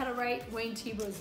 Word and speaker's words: Thiebaud: Yeah, you, so don't, it sounds say, like, you don't say Thiebaud. It looks like Thiebaud, but it's really Thiebaud. Yeah. Like, take a sip of tea and then put your bow on. It has a silent H and it has a silent D.